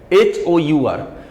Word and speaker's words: hour: एच is consonant words, but in some certain words H is silent, and where H is silent you can see here HOUR, but pronunciation is just like O, honest, honorable.